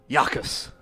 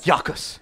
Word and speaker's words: Jacus: Yakus. Oh, really reaching here, John. How do you spell that one? Jacus. Oh, I Yakus. thought it was a Y. Me too. Is that like mucus? J-A-C-U-S. No, Yakus.